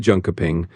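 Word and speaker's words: Jönköping: You're looking at Junka Ping, which is basically pronounced something like yarning. You got that little yarn sound at the start and then a soft ping at the end.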